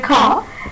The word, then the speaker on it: car: And R is the final word R is the final letter in the word car, and it is not pronounced.